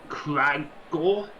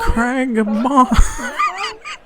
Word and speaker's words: Cragbar: Are you Cragor? Cragor? No. Was it pronounced? Does everybody forget the name I've said 3 times Was already? it pronounced? It's like crowbar. Cragbar. It is very similar to crowbar.